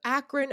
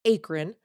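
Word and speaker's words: Akron: He's out of Akran, Ohio, which I always want to pronounce acron.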